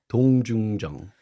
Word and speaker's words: 동중정: It's often termed as 정중동 or 동중정. Can you pronounce this? Can you repeat, please? Okay, 정중동, 정중도, 동중정.